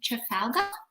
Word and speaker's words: Trafalgar: And then, so now we have Debbie from Trafalgar.